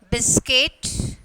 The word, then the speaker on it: biscuit: Second one, biscuit. So, U is the silent letters.